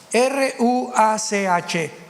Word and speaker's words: ruach: Apunten todos ustedes, los que les interesa en su Biblia la palabra espíritu, que es la palabra se escribe ru r u a c h. Ruach.